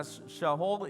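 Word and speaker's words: שאול: El nombre de Saúl, imagínense que el nombre de Saúl pronunciado significa Shaul y significa deseado.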